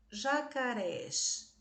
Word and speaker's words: jacarés: esse explodidos naquele quintal jacarés última sílaba é a tônica terminada em S oxítona terminada em S acentuada e o último caso Preciso